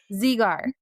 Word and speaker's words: Zegar: So it's like Z just, with a gar.